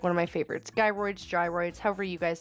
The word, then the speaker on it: gyroid: Let me know if you say it like gyroids, like as in my guy, my dude, or if you say it like gyroids, like gyrate your hips in the comments.